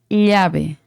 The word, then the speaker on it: llave: Por exemplo, em espanhol, llave es com duas L's. Llave. Aqui não existe Não, a doble L e a pronúncia de não, llalle, lillo, llu.